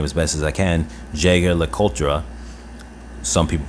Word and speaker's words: Jaeger-LeCoultre: Jaeger-LeCoultre. Some people pronounce it differently.